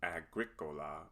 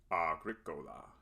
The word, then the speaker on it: agricola: never a or a so this word is not agricola but agricola second the vowel o is always o and never ah so the word is agricola third any word of